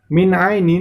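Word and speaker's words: مِنْ عَيْنٍ: Min ainin di situ terdapat nun sukun bertemu dengan huruf ain. Maka itu termasuk pembacaan idhar, maka cara membacanya sama, yaitu dibaca jelas.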